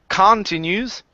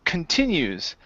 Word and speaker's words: continues: This word here, instead of continues, this word is pronounced continues.